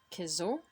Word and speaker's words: Kezôwadowinno: where the emphasis should be "--dowinno" [Practicing Abenaki Pronunciation] so though we know and and so we're gonna we're gonna say "Kezôwadowinno" "Wliwni Kezôwadowinno" "Kchi Wliwni